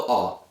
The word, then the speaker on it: ho: You don't pronounce the H in Italian, so it's io ho, I have.